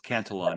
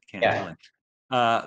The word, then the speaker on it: Cantillon: to pronounce it properly so it's cantelon and not can uh the canelon effect it